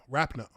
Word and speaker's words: Rapinoe: Rapinoe.